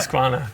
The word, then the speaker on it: Husqvarna: Because people have been pulling us up about the pronunciation. Husqvarna. It's Husqvarna, right? Husqvarna.